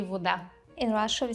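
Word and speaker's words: woda: For the W, they would just pronounce it as like a V if it was in English, but yeah, it sounds the same.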